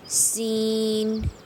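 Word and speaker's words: سين: How to pronounce the letter Seen, Seen.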